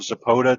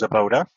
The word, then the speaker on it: Zabota: And folks, that's Ben Morone of Zabota. Definitely check him out. And I mispronounced that. Let's try that again. That's Zabota. And please check him out online.